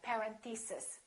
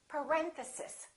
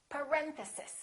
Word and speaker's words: parenthesis: mistake on this one a lot of them say something like parenthesis and it's actually the second syllable it's parenthesis parenthesis next one these can